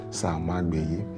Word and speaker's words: Samagbeyi: So you not pronounce it anyhow. Samagbeyi.